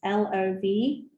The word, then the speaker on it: lovage: Can you spell it? Yes, LOVAGE.